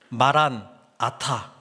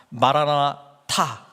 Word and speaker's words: 마라나타: 마란아타 이렇게 발음을 한다면 우리 주님께서 오셨다, 이미 오셨다, 과거형이 되고, 마라나타 이렇게 발음하면 주님께서 오실 것이다, 주님께서 오십시오, 미래형이 된다는 것이죠.